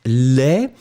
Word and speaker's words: laid: Final D is not pronounced at all. But then when it will be the feminine form, you will pronounce the D because you add this laid.